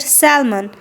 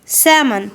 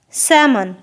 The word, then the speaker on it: salmon: word and call it salmon as we can see letter L in this world but the correct way to pronounce this word is salmon with silent l salmon we ate salmon last